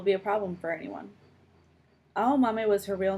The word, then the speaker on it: Aomame: for green peas, and pronounced with the same 4 syllables. A-O-Ma-Me.